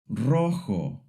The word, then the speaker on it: rojo: Instead, it has a rough breathy sound, kind of like the English H in house, but much stronger, almost like you're cleaning your throat gently. It's made in the back of your mouth with air passing through your throat. Don't be afraid if it feels a little scratchy at first. That's exactly how it should sound.